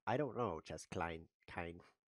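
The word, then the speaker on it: Keine: Chess Klein Chance wants to know if he can join that game with his app. I don't know, Chess Klein Kine. Why are you named Klein? There's no Klein in there.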